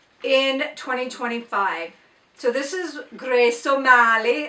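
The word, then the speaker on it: Grace O'Malley: So, this is Grace Mali. And you have to say it like that. You just have to say Grace Ali like you're Irish.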